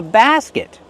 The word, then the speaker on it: basket: Use the open A sound like black cat. Basket. And then the closed sound. Basket. And use a stop T. Not basket. Just stop the air with your tongue.